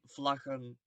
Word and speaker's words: vlaggen: But the pronunciation in the G, it stays the same. Eén vlag, twee vlaggen. It doesn't change.